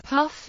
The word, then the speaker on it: puff: formal and deprecated terminology the picof Farid is sometimes colloquially pronounced as Puff or pick as in a 10 puff capacitor similarly Mike is sometimes